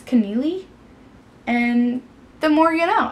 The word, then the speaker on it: Connealy: by Mary Kay Neeley I guess I've been saying her name wrong for like ever I've always said Connelly but I guess it's connealy and the more you